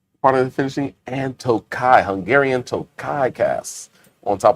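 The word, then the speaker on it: Tokaji: K A J I J's not pronounced tokai.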